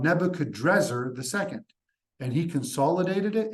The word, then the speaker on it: Nebuchadnezzar: And the Hebrew pronunciation of Nebuchadrezzar is Nebuchadnezzar, right?